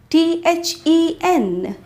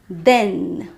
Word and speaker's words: then: This is pronounced as than and the word t-h-e-n which is pronounced as then. Once again than with a vowel sound /æ/ than. And then with a vowel sound /ɛ/ then.